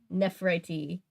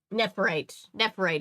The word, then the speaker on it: Nephrite: your North American Commander nephriti wait nephrite is how you say his name I don't think you